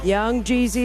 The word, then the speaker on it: Young Jeezy: Rhymes with queasy money. Young Jeezy is right.